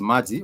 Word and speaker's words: maji: water then this is Maji once again Maji which has two syllables Ma and G it has two syllables